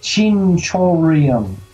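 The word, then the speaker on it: chinchirorin: they pronounced it but it's pronounced uh chinchorium and that's how it's pronounced in suikoden so one of my favorite gambling games of all time is in yakuza 5.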